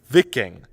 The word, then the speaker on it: Viking: are honestly mispronouncing this doesn't rhyme with liking it rhymes with licking the word is vicking the problem is that